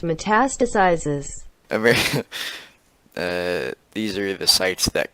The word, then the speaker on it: metastasizes: It's pronounced metastasizes.